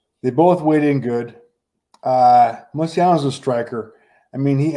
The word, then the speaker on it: Moicano: Moicano. That's a hard C.